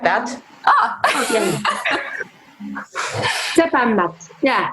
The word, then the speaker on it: Zäpämmät: Is it, how do you pronounce Zäpämmät? Like that. Okay. Zäpämmät. Yeah. Zäpämmät.